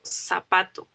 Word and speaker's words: zapato: Cuando digo zapato, zapato. ¿Por qué? Porque lo pronuncio como si fuera una S.